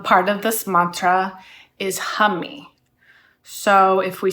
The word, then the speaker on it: Humee: the first um part of this Mantra is Hummy so if we say hum like ha and